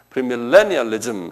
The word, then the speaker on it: 프리밀레니얼리즘: 밀레의 액센트가 있어요. 프리밀레니얼리즘 한번 발음해 보세요.